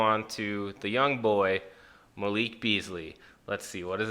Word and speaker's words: Malik: It also tells you how to pronounce his name, Malik.